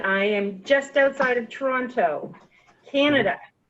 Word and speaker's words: Toronto: am just outside of Toronto Canada you actually pronounced the t i i i Mo Hagen has told me it's Toronto toron okay what what's your